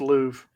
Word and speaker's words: Louvre: By the way, it's pronounced Louvre, just so you know.